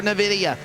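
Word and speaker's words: Nvidia: dark horse racing out of edington illinois for navidia i finally said it right producer nine seasons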